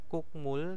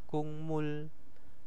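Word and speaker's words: 국물: di sini ada Kung kukmul dibaca apa kungmul Nah kaknen dibaca kangnen ya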